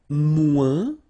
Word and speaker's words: moins: And then, moins, same thing here. Remember, we don't pronounce the final S.